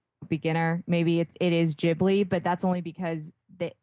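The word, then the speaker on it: Ghibli: so okay okay I think any of the jibli movies the studio jibli films are really amazing and those are I I want to say if if you have some beginner maybe it it is jibli but that's only because the the topics vary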